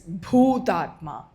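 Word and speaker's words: भूतात्मा: It's not Bhutatma, it is Bhutatma. It's pronounced with an aspiration.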